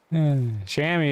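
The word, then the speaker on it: chamois: comments once saying I pronounced Shamu wrong let's pronounce Shamy he says I'm like sham is French shammy is cuz the Americans don't like to say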